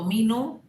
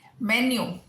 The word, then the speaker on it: menu: तो हमारे कई भाई बहन इसको मीनू, जरा मीनू देना, नहीं नहीं नहीं नहीं, नहीं मीनू नहीं चाहिए, मेन्यू, मेन्यू, राइट?